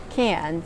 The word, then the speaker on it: Cairns: Well, it's pronounced Cairns, but it's spelt like Cairns, so it's Cairns.